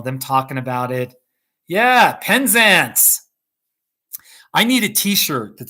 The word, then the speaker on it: Penzance: that that was fun penzance penzance okay the a in penzance is pronounced like the a in dance penzance all right that's cool